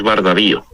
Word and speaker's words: Bardavío: Y efectivamente, lo has pronunciado bien, es Bardavío.